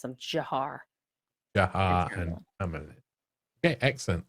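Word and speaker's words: Dzhokhar: Um Jiar. Jiar and Tamarlain. Those are the two brothers. Just so you want to know to how to pronounce them. Jiar.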